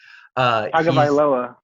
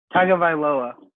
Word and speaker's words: Tagovailoa: I was going to pronounce his last name, and I'm not even going to try. Tagovailoa. What? Tagovailoa. Tagovailoa.